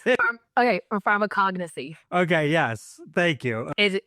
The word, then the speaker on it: pharmacognosy: I'm gonna mispronounce it. Or pharmacognosy.